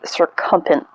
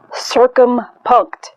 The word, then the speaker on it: circumpunct: that is called the circumferent if i am pronouncing that correctly or incorrectly please excuse me and circumpunct is how you correctly pronounce it and so i was